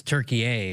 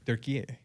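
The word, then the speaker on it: Türkiye: And it's it's Turkey-A, is it not? Turkey-A. That's how we pronounce it nowadays, not Turkey.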